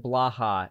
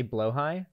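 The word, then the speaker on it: BLÅHAJ: hajj it's blahaj it's it's apparently blow high it's blow hot interesting the a is an o oh and the j is an i so it's blow high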